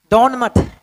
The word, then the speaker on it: Donne: John डन। John डन, डॉन मत पढ़िएगा, pronunciation होता है डन डन।